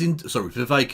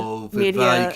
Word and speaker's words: Vivek: Vivek Ramaswamy's Vivek, it rhymes with cake. Ramaswamy, his entire bit is an embarrassment. Oh no, we're talking on a sort of please clap level of. Oh no, media. Vivek, it rhymes with cake.